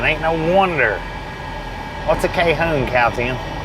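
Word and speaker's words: Cajon: got over so it's actually pronounced Calhoun not Cajun k-home let's go to the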